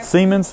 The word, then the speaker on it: Siemens: Is that how it's pronounced? Yeah. Siemens.